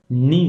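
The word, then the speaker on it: neigh: Sound of horses, नी होता है, नी।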